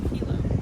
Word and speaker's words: Hilo: It's kind of like a little hidden area here in how do you pronounce where we're staying? Hilo.